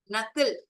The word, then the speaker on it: knuckle: knuckle, knuckle, K is silent.